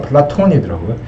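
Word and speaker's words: Πλάτων: 그래서 플라톤은 이게 영어로는 플라토고 실제 발음은 플라톤이더라고요.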